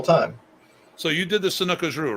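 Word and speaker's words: Sanuces Ryu: So you did the Sanukajru, right? Correct. Am I pronouncing it right?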